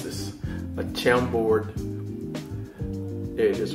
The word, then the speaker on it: Chambord: So anyway, what I'm going to make a Chambord, how do I pronounce this? A Chambord, there it is right here, a Chambord Manhattan.